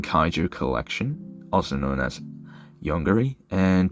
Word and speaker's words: Yonggary: collection, also known as Yunguri. And to tell you the exact and correct pronunciation, it's Yongari. Uh I know this because I'm South Korean.